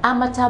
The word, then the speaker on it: amateur: you will embarrass yourself the correct pronunciation for this word is amateur are not are mature for example he is an amateur boxer he is an